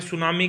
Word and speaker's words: tsunami: देखो जो सुनामी word होता है ना, उसकी फुल फॉर्म में होती है, मतलब उसकी जो स्पेलिंग होती है वो ये होती है TSUNAMI। टी यहाँ पे क्या होता है, साइलेंट होता है।